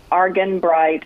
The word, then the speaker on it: Argenbright: Argenbright is exactly as it sounds. Just you can do it phonetically and you'll get there.